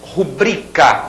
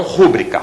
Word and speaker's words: rubrica: batô esse si necropsia rubrica e não rúbrica rubrica outra palavra paroxítona e algumas palavras proparoxítonas